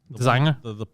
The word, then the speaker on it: designer: Ironically, her designer, Designer? the lady that designed her dress, Aurora James. Designer with a silent G. Yeah. Or a G that's pronounced always the same way when there's an N after it.